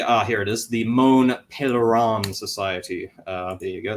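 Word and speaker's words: Mont Pelerin: on to the ah here it is the moan pelan Society uh there you go that's how you pronounce it uh which was founded in 47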